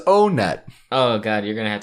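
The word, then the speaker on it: Onett: like they're all numbers the competitive smash brothers scene calls it on it I'm standing up for the earthbound fans because they always get on this is the stage that is the most competitive love this as far as what it's pronounced or what grimace the minutes in the chat says the katakana says oh net oh god you're gonna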